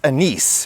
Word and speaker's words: anise: It also comes from this plant: anise, also pronounced uh-NEES. It's a word of French origin and uh-NEES is the French pronunciation.